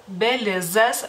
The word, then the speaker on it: Belizas: Belizas, como pueden ver, tiene la Z se pronuncia de otra manera en lituano.